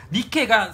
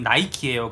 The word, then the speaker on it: 니케: 니케가 승리의 여신인데, 이 니케의 영어식 발음이 나이키예요.